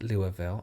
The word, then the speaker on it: Louisville: i live in louisville pronounced louisville oh i didn't know that kentucky and i'm